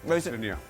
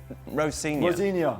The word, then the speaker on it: Rosenior: Rosenior. Rosenior.